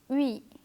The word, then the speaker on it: oui: In this letter combination, both the letters are pronounced separately but without a pause. This makes it seem like one single sound. Oui, oui.